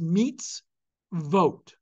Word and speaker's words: mitzvot: you have another syllable syllables in Hebrew must always begin with a consonantal sound so therefore perforce it is meets vote now if that were